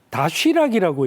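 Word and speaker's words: Доширак: 저 도시락이라는 상표를 러시아 사람들은 다쉬락이라고 읽는다고 합니다. 다쉬락.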